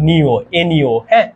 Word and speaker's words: ঞ: তো এটার উচ্চারণ কিন্তু এটা মনে রাইখো এটার উচ্চারণ কিন্তু নিও এ্যা আর এইখানে যেটা থাকে